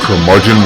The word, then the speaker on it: curmudgeon: the curmudgeon rock report their margin rhymes with bludgeon rock gods do it